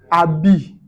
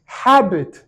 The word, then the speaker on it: habit: En français, nous, on ne prononce pas les H. Et les anglophones, ça les étonne. Je prends ce mot par exemple. En français, on va dire habit. L'anglophone lui dit habit.